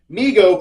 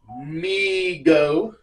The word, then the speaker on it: Mego: to overwhelming overwhelming demand Migo pronounced Migo Corporation was started by his father David Abrams in 1954 and named by his younger brother Howard who would say migo to so that's pretty